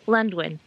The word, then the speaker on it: Llanddwyn: something like little alone it is lundwin the english pronunciation and it's a title